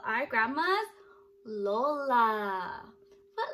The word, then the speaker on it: Lola: you that in tagalog we call our grandmas lola what letter does lola start with that's right starts with the letter l l makes a sound that's right i love her and she loves me and lola is her name-o l-o-l-a-l-o-l-a so lola is